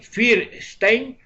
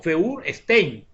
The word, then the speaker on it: Feuerstein: Hay un autor que se lee Feuerstein, pero que se pronuncia de dos formas. Así, Feuerstein o Feuerstein. Nosotros, si lo queremos plantear como con la sería con el timbre apropiado, sería Feuer se pronuncia Feuerstein.